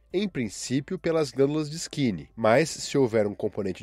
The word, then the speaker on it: skene: produzidos pelas glândulas de skin se escreve s k e n e Skin Essas são glândulas que